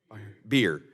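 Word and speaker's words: Bier: pronouncing your name correctly beer like the beverage cool Dr beer is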